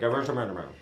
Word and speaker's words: Gewürztraminer: I mean, get some of this Gewürztraminer. Absolutely. It's super hard to pronounce. I know, it's super hard to pronounce. Gewürztraminer. I say just really say good. G and sneeze, and you're good.